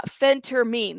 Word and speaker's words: phentermine: listen get together uh Phentermine that's how you say it the pH pH thank you if she